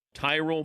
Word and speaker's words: Tyrol: It's Tyrell pickleball shoes. You spell it Tyrol. Tyrell pickleball shoes, the best pickleball shoes, purpose-built for pickleball.